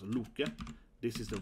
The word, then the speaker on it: Loke: Loke, this is how you actually spell Loki, and pronounce Loke.